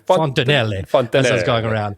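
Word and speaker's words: fontanelle: Word of the week this week is fontineel.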